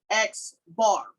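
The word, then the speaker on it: x̄: So here, when we talk about sample mean, we have an X with a bar over the top of it, and that is pronounced X bar.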